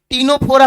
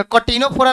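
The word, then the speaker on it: Ctenophora: हाँ टीनोफोरा पढ़िएगा, कटीनोफोरा नहीं, सी साइलेंट होता है।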